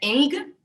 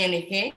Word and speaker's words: Ng: la ministra Mari Ng, que en inglés se pronuncia Eng, pero es Mari Ng, si fuéramos nosotros los que lo pronunciáramos en Panamá.